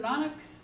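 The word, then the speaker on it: Nanak: of Christianity I look at these dates Guru nanuk is that how you say he lived the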